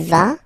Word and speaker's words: vas: Basically, you pronounce it like for the tu, because you don't pronounce the final S, okay, il va, elle va, okay, je vais, tu vas, il va, elle va.